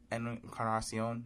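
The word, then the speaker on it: Encarnación: Encarnacion.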